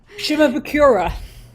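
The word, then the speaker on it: Shimabukuro: And there's a guy named Jake, whose last name I can't pronounce. Jake. Zimbarukuruku. Yeah. That You guy. got it. Yeah, that guy. Shimabukura.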